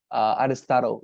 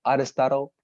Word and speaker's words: Aristotle: And second thing for all of you, the pronunciation of the word Aristotle, Aristotle, yeah, it is difficult, I know, Aristotle, but nonetheless, you know,